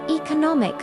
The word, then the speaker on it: economic: But economic e-co- no- mike. Stress moves to third syllable.